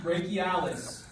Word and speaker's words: brachialis: Spelled funny because this is spelled B-R-A-C-H-I-I. So we need the brachialis.